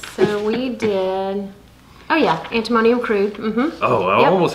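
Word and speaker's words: Antimonium crudum: And then you had me also taking the antimonio cruda, is that how you say it? So I forget how to pronounce it. So we did, oh yeah, antimonium crude.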